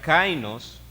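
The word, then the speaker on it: καινός: Y hay otra palabra que se pronuncia kainos, que dice algo recién hecho, el cual no se parece a lo que antes existía.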